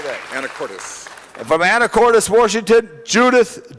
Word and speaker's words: Anacortes: Anacortes.